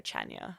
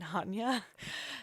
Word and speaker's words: Chania: told the taxi driver I want to go to Chania, and they were like, you mean Hanya? So definitely before you go to a place, just make sure you know how to pronounce the name of the town you're going to.